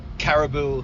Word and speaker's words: caribou: Now, do you know about the animals caribou? Caribou, yeah, I've seen on the TV. I've never seen it. Yeah, before. spelled differently, but it pronounced the same.